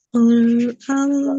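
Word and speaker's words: الله: Jadi sempurnakan fathahnya dulu ya. Jadi kan lafaz Allah itu tebal. Jadi Allah. Nah, sempurnakan dulu fathahnya. A dulu tadi kan huruf hamzah hamzah ee fathah itu a a a a. Nah, jangan jangan Allah. Jangan Allah tapi Allah.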